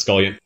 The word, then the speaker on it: Scullion: Is your name pronounced Scullion? Am I pronouncing that right? Yeah, that's the right pronunciation, sir.